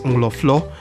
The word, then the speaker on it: Nkrofu: From Axim in the Western Region, 5 kilometers from the coastal highway from Isiam Town Junction, we arrived at Nkrofu, which natives pronounce as Nglofo, meaning crowd.